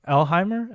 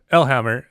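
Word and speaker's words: Ellehammer: Is it Elheimer? Elhammer? I mean, Elhammer. It's literally how it's spelled.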